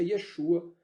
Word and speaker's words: Yeshua: E eu uso a pronúncia Yeshua para o nome do Filho.